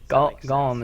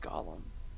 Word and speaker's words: Golem: It's not pronounced Gollum. What? How am I? Gollum is a character from Lord of the Rings. Golem. Thank you.